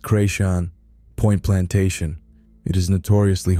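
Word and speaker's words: Chrétien: There is a place near where I grew up called Carichan, pronounced Creation, Point Plantation.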